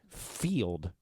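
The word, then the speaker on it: Feeld: date a third person it's called field right said it right I know it looks like fled to me f-e-e-l-d so anyway someone here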